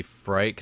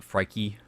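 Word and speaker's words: Phrike: I think it's supposed to be Frike, not Frikey, but people pronounce it a little bit differently.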